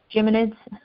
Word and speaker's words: Geminids: two evenings for the Geminid gemin help me pronounce this one mede Geminids meteor shower and and you can look at it Geminids thank you I'd go with Geminid well the